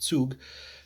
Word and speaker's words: Zug: the martyr to zug uh or zug depending on how you want to pronounce about zug if you're pronouncing it correctly in german but anyway um so